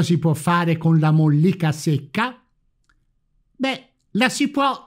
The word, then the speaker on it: mollica: LA MOLLICA, mi raccomando l'accento tonico, è invece la parte interna, più chiara e morbida.